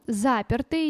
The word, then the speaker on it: запертый: один не берём потом запертый никакой ё тут нет видите вас обманули крыски какие сутулые э нет слова нет буквы ё в слове запертый поэтому цифру два не